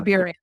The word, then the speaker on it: Burien: Do I pronounce that right again? Yeah, Burien. That's right.